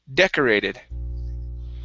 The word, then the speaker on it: decorated: one here is decorated the stress is at the very beginning decorated decorated okay very good very good